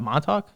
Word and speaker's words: Montauk: oh that's how you say it we what montauk yeah i never knew how to do it